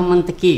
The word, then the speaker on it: Montesquieu: Dulu saya ingat betul nih, sebenarnya bacaannya bukan Montesquieu ya. Iya, Montesquieu atau Monteki gitu. Ya, saya ingat benar dulu waktu SMA tuh. Ini bacaannya sebenarnya bukan Montesquieu atau Monteki gitu.